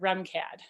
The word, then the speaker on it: RMCAD: remcad for short so it's spelled rmcad but go ahead and pronounce it remcad and remcad campus is